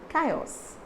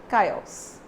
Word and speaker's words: chaos: say that the word exactly with how you pronounce k chaos so this is how you pronounce this word